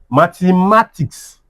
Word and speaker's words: mathematics: Mathematics ma- the- ma- tics. Where? Second to last.